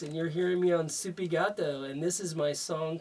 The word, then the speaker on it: SoupyGato: SoupyGato, Spanish for cat.